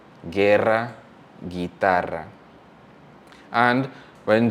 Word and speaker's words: guitarra: When G is followed by UI or UE, the U is silent and the G gets back its voice, its hard voice. So for example, guerra, guerra, or guitarra, guerra, guitarra.